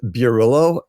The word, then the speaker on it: Bierylo: butcher it so my my last name is pronounced Billo and I don't even pronounce it correctly because it's a Polish name and I don't speak Polish so H I've I've